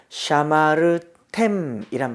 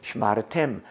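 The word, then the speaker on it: שְׁמַרְתֶּם: 샤마르템이라고 쓰니까 강세가 뒤로 가죠. 강세가 뒤로 간 것을 샤마르템 이렇게는 읽을 수 없으니까 샤마르템 하다 보니까 앞에가 어떻게 해요? 샤를 카메츠를 못 쓰겠는 거죠. 그래서 떼버리고 쉐와라서 슈마르템. 언어의 습성상 모음이 바뀐 겁니다.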